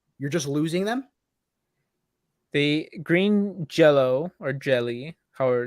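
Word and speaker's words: Green Jellö: yeah with two T's green jelly is actually pronounced Green Jello but they got sued by Kraft Foods who's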